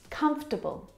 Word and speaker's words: comfortable: Now, this word just like vegetable has an extra vowel in there that we don't need to pronounce. Comfortable. Not comfortable or comfortable, but comfortable. Comfortable. We skip that vowel sound.